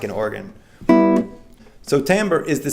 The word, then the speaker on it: timbre: Slightly different from that is timbre. And some people pronounce this timbre, but I always heard that it was timbre, and perhaps either is correct.